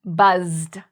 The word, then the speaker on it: buzzed: So this can be confusing because sometimes S's are actually pronounced like Z. So for example, here we actually have a Z, buzzed.